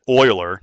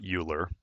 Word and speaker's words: Euler: number, and again, you you pronounce that Euler, not Uler.